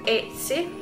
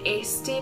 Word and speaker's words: Etsy: and they are on Etsy. I keep calling it Esty, but it's not Esty, it's actually Etsy.